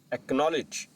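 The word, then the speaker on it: acknowledge: एकनॉलेज एकनॉलेज में भी सी और के एक साथ आया है तो हम सी को प्रोनाउंस नहीं करेंगे। नेक्स्ट रोल देखते हैं।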